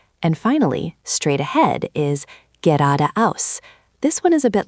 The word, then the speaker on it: geradeaus: The emphasis is on the ra and the aus. Geradeaus. The ge is quite soft. Try again. Geradeaus.